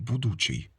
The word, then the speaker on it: будучий: У староукраїнській мові було слово будучий саме з таким наголосом будучий на значення майбутнього.